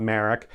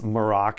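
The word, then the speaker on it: Marrok: you pronounce his name it's not Merrick it's morocc as valence gold pronounces it only Morgan ellisbeth really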